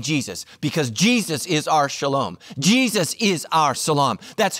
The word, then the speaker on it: shalom: to greet each other it's pronounced differently but it's spelled identically Jews say shalom Muslims say Salaam same word same word